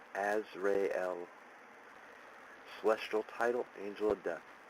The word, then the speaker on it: Azrael: ozier oh my god correct pronunciation as rayel celestial title Angel of